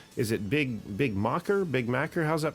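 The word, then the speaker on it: bigmacher: social media handles is it big big mocker big mac how's that pronounced there my personal is big macho b-i-g-m-a-c-h-e-r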